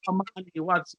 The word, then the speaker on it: AMANY: The way you pronounce it is like AMANY for peace.